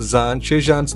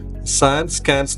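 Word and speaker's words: Zaanse Schans: ഞാൻ ഇത്രനേരം സാൻഷേ ഷാൻസ് എന്ന അങ്ങനെയല്ല പറയേണ്ടത്. ഇതിന്റെ ശരിക്കുള്ള ഉച്ചാരണം സാൻ സ്കാൻസ് എന്നാണ്.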